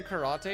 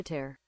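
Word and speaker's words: Carattere: this actually hang on I always say karate and then I realize that that's wrong Arya Dio ker carer there you go English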